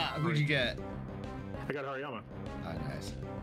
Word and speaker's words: Hariyama: Oh, a Horiyama. Or Hariyama.